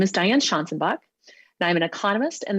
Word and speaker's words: Schanzenbach: Professor Schanzenbach, you are recognized for 5 minutes for your opening statement.